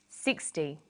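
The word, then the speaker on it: sixty: Usually the first syllable in a number is stressed. 16, 60.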